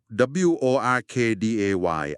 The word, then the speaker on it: Workday: ท่าน อาจ จะ เคย ได้ ยิน มา บ้าง W O R K D A Y อ่าน ว่า Work Day นะ ครับ เป็น แพลตฟอร์ม